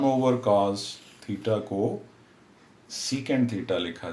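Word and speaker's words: cosec: equal to short में अगर हम इसको प्रोनाउंस करें तो कोसेक थीटा बोलेंगे और वन ओवर कॉस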